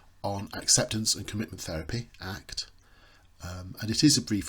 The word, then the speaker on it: ACT: acceptance and commitment therapy often abbreviated to act but never pronounced as a CT is sometimes referred to